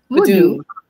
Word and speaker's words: Vodou: How did you pronounce it? Vodou.